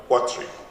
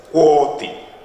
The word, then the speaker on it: Kwati: Back home, the Ewe call or pronounce my name Kwati. The Twi say Kwati. And now an additional one, Kwatri. My name is Kwati.